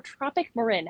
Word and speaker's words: Tropic Marin: Now, first and foremost, is it Tropic Marin or Tropic Marin?